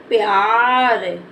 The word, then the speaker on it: प्यार: शब्द लिखेंगे तो य प्यार क्या हो जाएगा प्यार प्यार क्योंकि पा को हमें जल्दी से बोल देना तो प्यार क्या